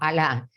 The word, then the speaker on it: Alá: Y la palabra árabe Allah, que en español la pronunciamos como Alá, significa Dios.